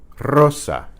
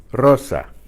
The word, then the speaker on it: Rosa: Okay, the initial R is trilled.